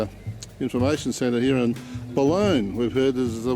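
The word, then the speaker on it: Balonne: road from the uh information center here in bologna we've heard this is the way it's pronounced and that's the balloon river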